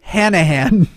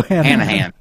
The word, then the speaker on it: Hanahan: Last name, pronounce the A's like a hillbilly saying ass. I need a reference of a hillbilly saying ass. Hey Kyle, could you say ass? Ass. Okay, so it must be Hanahan.